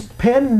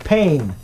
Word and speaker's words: pen: as in pen pen it's pen not pain pain means it hurts pen is something that we write with Ben is the name